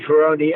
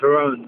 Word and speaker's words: Ferrone: mother did so so they changed the I to an E and pronounced it Fon but all my friends used to call me foni anyways so you know